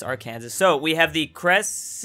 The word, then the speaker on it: Arkansas: what I'm talking about Arkansas Arkansas definitely pronounced Arkansas so we have the